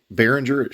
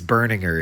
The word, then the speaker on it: Berninger: It's Burninger is his last name.